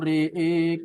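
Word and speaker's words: رأى: Falamma janna alaihi lailu re'e kaukaba. Re'e vokalnya e. Coba Sadul dipraktekkan.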